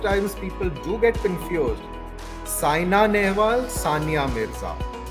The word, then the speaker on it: Saina: the second name right the name of the famous badminton player is Saina Nehwal it is not Sanya Nehwal and I'm afraid I